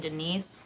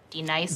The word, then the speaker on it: D-nice: Do you mean Denise? Son of a bitch! You say your name right now. Denise? Say it right. Denise. Correctly. Denise. Right. Denise. Right. D-nice. That's better. Thank you.